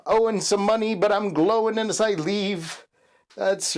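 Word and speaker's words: Glóin: Oin and Glowing. Or I think the proper way to say Oin and Glowing is Owen and Glowin'. That's right. That's the proper way to say it. Owen and Glowin'.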